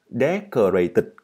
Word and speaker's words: decorated: Decorated. Các bạn không phải là decorate nha, mà là decorated, cho âm rơi vào một.